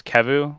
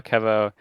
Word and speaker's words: kevu: it oh uh yeah my old tag was kevu and no one could pronounce it because they would be like kevin kevo so i'm in the